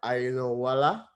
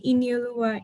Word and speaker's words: Iniolua: of time, our sister Ainowala had a question. I hope I pronounced your name correctly, sir. No problem. It's actually Iniolua Ini.